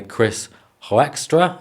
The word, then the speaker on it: Hoekstra: And you've got this American guy, Chris Hoekstra, I think is how you pronounce his surname, and he gives these very educated, level-headed breakdowns, and they balance off each other perfectly.